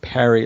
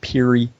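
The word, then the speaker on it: Peary: cult movies by Danny Perry the name is PA ry but it's pronounced like Perry it looks like Puri okay and it is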